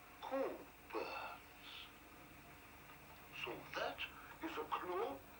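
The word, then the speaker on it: Cockburn's: It's Coburn's, actually. No, we don't pronounce the C-K. Coburn's.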